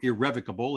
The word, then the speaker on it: irrevocable: need to use an irrevocable trust here or irrevocable if you're of that pronunciation for preference because if you use